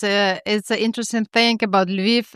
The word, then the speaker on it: Lviv: Lviv International Short Film Festival.